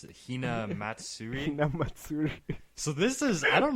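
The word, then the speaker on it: Hinamatsuri: And then Lego gave me, how do you pronounce it? Hina Matsuri? Hina Matsuri.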